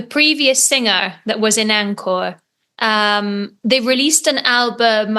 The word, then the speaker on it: ANKOR: right Jesse Williams from Anor that's how you pronounce it exactly Anor yeah a lot of people get confused is it anchor is it Anor it's Anor so you said it perfect okay pretty good